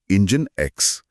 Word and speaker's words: NGINX: हां, NG आई एनएक्स जिसका उच्चारण है इंजन एक्स।